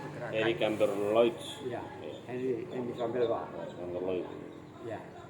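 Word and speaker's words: Chambert-Loir: Ya, Henry Sambelwa. Amber Lloyd. Ya, ya bacanya Sambelwa, Henry Sambelwa, bahasa Perancis lah.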